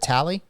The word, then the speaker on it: Talley: for Jacob tally and that's how you pronunciate your last name right is it tally y that's correct yes sir see I knew I